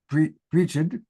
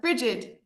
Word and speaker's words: Bridget: I don't know if you pronounce it Brigid. It's Bridget.